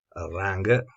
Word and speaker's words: rung: Abbiamo poi i pioli orizzontali che sono chiamati anche rung, dipende se vogliamo pronunciarlo così come lo leggiamo in italiano, rung, se vogliamo pronunciarlo rang, e andiamo avanti.